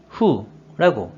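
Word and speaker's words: 俯: 자, 이 한자 뜻으로는 발음이 없고 음으로만 후라고 읽어줘요.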